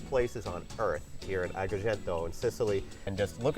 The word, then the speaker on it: Agrigento: We're in Agrigento. Did I pronounce that right? Agrigento. Agrigento.